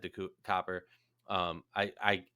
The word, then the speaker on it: Copper: uh bonner said to copper um i i everyone keeps calling her cooper and it's so annoying because i'm gonna start slipping up and saying it wrong um but said uh